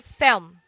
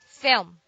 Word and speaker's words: film: combination L plus M one solution is to pronounce the L as W film thumb palm palm but some prefer adding a vowel in this word so we say film film fourth fourth don't say